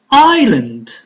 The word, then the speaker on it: island: Island. Island. S is silent.